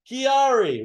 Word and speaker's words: QuiAri: is from Maki the re is the first syllable scientific name of the Mockingbird Chiari right so let's get that let's get that